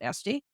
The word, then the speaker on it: Easty: Mary easty and uh we call her e but he said the familyes always pronounced it esti and um the one